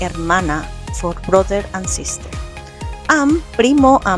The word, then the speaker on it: hermana: Remember the letter H is silent. So we will say mano mana.